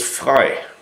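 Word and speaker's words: frei: And the German word for free is fry. F R E I just like French fry or fry supermarket.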